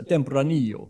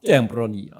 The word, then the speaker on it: Tempranillo: And you've got to channel the count from Sesame Street to pronounce that variety better. So Tempranillo. Yeah, one more time. One Tempranillo.